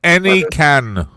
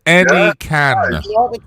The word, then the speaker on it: Anakin: The first one pronounced any can. An right? I give you permission to speak. It's pronounced any can.